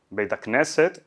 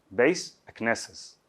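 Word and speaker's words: בית הכנסת: Entonces, Beit HaKnesset pasa a ser Beis HaKnesses.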